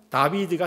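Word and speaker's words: דוד: 드드 이렇게 되는 거죠 그리고 가운데 있는 글씨는 예 이렇게 어 W 에 발음을 하게 되는데요 영어권에 있는 사람들은 리면 예 뭐 위 이렇게 동그라미로 흔히 이야기하잖아요 하지만 동그라미가 아니라 비읍으로 발음해요 왜냐면 W 위가 두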